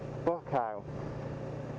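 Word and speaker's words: Buckow: check out a place called buckhou i mean that's how you pronounce it it's about 10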